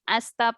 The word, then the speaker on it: hasta: the h in spanish language is silent so we don't say the letter h so it becomes asta pronto which means see